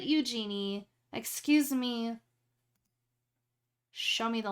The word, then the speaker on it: Eugenie: But they call her Eugenie. And I'm like, you named her after Princess Eugenia, but you pronounce it Eugenie.